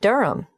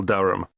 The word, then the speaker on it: Durham: how do you spell Durham d r h a m of course I should know that but it's just one of those names that sounds quite different from the way you spell it it is confusing I've